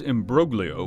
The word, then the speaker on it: imbroglio: The group pronounces imbroglio with a hard G, as one would the similar word in French, which is widely spoken in Haiti alongside Haitian Creole.